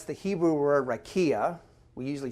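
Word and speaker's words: raqia: tool, you find out it's the Hebrew word rakia. We usually spell it R-A-Q-I-A.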